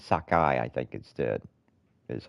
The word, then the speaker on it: Sakai: it's it's something like saki it yeah it's Sakai it's like it's like saki but it's Sakai I think instead is